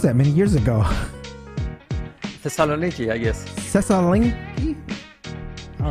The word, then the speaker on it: Thessaloniki: Oh, I can't even pronounce that many years ago. Thessaloniki, I guess. Thessaloniki? All right. Thessaloniki, yes.